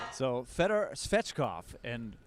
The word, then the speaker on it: Svechkov: spreadstop so federer's fetchkoff and like you said mace we have to make sure that we don't uh throw the extra syllable in there we have seen